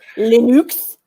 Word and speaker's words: Linux: I remember in the 90s when this thing called Linux was coming out, and it was I think it's pronounced Linux.